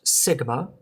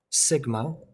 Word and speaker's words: sigma: greek alphabet it's the letter s and it's pronounced sigma um pronounced sigma it's a capital sigma this is a lowercase